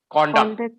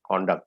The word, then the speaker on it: conduct: a behavior as a noun so and we pronounce it as conducted yes that's correct conduct the difference is that the stress is on corn here kon con this is how you can pronounce it c-u-d-u-c-t conduct okay and if you use it as a